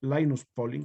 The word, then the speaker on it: Linus Pauling: se debe básicamente a linus pauling lines polling cómo se pronuncia de generalmente linus pauling si lo pronunciamos en español ambas formas son correctas más conocida como modelo